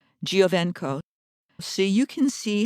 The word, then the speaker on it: Giovenco: The surname is spelled G-I-O, V like Victor, E-N like Nancy, C-O, Giovenco.